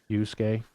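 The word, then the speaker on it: Yasuke: I I think you pronounce it Yusuke.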